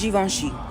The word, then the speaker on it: Givenchy: So it's pronounced Givenchy.